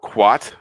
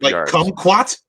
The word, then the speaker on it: kumquat: path to freedom opens at I guess you pronounce this word quat quats what quat's Wow kumquat kumquat yeah and believe it or not kumquats